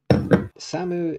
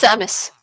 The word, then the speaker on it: Samus: Is it, Samu is Samu. I want to get the pronunciations right. I'm not pronunciating. It's Samus. Samus.